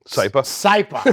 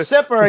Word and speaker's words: Saipa: And then, I'm going to say it wrong again. Saipa. I almost said Sipper again.